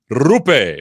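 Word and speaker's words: Roope: And because I just learned how to say his name correctly, Rupe, will you start with us, my friend?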